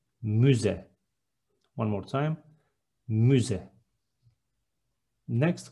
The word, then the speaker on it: müze: Next one, museum is müze with ü, müze.